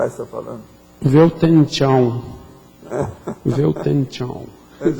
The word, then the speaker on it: Weltanschauung: Só para falar que esse Weltanschauung, ele existe aqui no WISE, né?